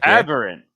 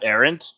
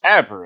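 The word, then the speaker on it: aberrant: sorcerer aberant mind yeah aberant not erant aberant it's close enough you got the the first last syllables my warlock class is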